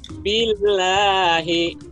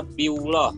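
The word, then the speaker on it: بالله: Ini tadi kakak simak antara Arsya sama Keigo masih bacanya Biullah. Jadi perlu ingat kalau ada lafzul jalalah lafat Allah, kalau sebelumnya itu harokatnya kasroh i, itu dibacanya tarkik tipis, jangan Biullah tapi Billah, ya.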